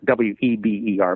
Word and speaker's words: Weber: introduced by a guy named Max Weber it's spelled like Weber w-e-b-e-r but it's pronounced Weber he was German and